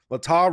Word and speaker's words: Latah: Latah rhymes with Utah.